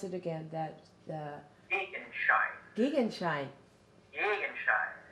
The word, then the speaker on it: Gegenschein: How do you pronounce it again? Gegenschein.